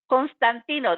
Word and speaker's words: Constantino: principles of engagement through dr steve caste castantino i mean he will kill me because i wish his last name constantino there you go i said it right and he talked about